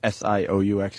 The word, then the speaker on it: Sioux: getting rid off fighting, how do you say S-I-O U X again?